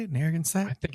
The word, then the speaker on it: Narragansett: Beach, I picked up a 75th anniversary can Narragansett beer. Did I say that right? I always feel like I don't say that right. Like, I'll put it up again. I need to read it again. Narragansett.